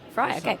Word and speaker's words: Frey: Fry. You got it. Fry. First time I've ever had my name pronounced correct.